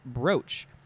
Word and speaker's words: broach: it pronounced bruce or is it pronounced broach it's b-r-o-o-c-h um this word